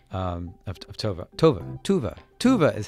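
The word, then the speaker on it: Tove: Johnson Moomin moving mcbird's but I'm sure I butchered her name Tovah Tobin Tuva Tuva is how you said the lady who's the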